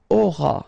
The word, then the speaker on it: auras: Alright, then tu auras. Final S not pronounced.